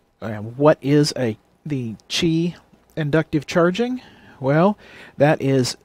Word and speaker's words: Qi: wire inductive chargers and what is a the Chi inductive charging well that is the Qi pronounced Qi standard for inductive charging and it